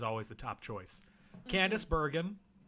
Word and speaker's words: Bergen: though she was always the top choice, Candace Bergen, Natalie Wood. Is that pronounced Bergman?